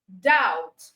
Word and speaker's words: doubt: that's the word com doubt the B is silent you write it but the B is silent then you have subtle